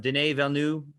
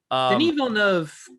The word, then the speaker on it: Denis Villeneuve: I feel like this is I always pronounce his name wrong. Denis Villeneuve, Arrival guy. Denis Villeneuve he's really good.